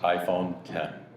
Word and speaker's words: iPhone X: every Apple employee worldwide iPhone X's pronounced iPhone 10 please need that person